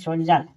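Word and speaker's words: soldier: पढ़ा जाता है जैसे सोल्जर सोल्जर में डी को ज पढ़ा जाता है।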